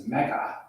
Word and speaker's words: Megha: 20 minutes ago, I would have mispronounced her name. Being I'm from New Jersey, it's Megha.